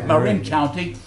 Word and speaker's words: Marin County: the truckload to Marin County, or how's it pronounced? Marin County.